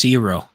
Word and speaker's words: gyro: things but uh yeah the correct way to pronounce gyro is hero yeah because if if